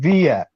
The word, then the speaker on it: Villa: man says hold on it's David via it's V yeah it's a state pronunciation yes yes it says